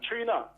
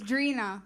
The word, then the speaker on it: Drina: Trina. Drina. Is it spelled the same way as the American rapper Trina? No, What's the difference? it's Drina. It's Drina.